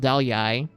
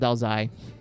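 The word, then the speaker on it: áo dài: So it's called Dao Yai, while in the north it's called Dao Zai.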